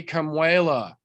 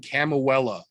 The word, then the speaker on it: Kamuela: None of the fucking announcers could say Kamuela. Some of the, how do I politely phrase this, authentically Caucasianist pronunciation of a name we have heard in a long time, everyone on that booth kept calling him Camuela.